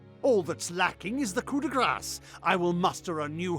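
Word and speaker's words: coup de grâce: that's lacking is the coup de grass I will muster a new host and March on corrid and I have always heard that pronounced coup de gras not Cuda grass and where will you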